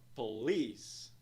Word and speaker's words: police: A primeira sílaba é pronunciada como p. Na segunda sílaba, nós vemos ali o som de vogal E', que soa como I. Segunda sílaba é então pronunciado como lease. Dois sons de vogal, duas sílabas. Nós vemos um apóstrofe logo após a segunda sílaba, que indica que ela é mais alongada e pronunciada em um tom mais alto. A pronúncia da palavra é então police.